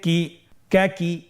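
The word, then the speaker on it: ك: আপনারা স্কেল লক্ষ্য করুন এবং আমার সাথে উচ্চারণ করুন। কাফ জবর কা, কাফ জের কি, কা কি, কাফ পেশ কু, কা কি কু।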